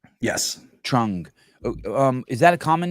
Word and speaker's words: Trung: Trung. Yes. Trung.